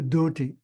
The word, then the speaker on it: dhoti: What's a dhoti? It's a dhoti, pronounced properly. Dhoti is a dhoti pronounced properly, in case you didn't know. It's not called a dhoti.